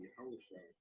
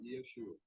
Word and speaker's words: Yahushua: And he said, I am Yahushua, whom thou persecutest. All right, and it's not Yeshua.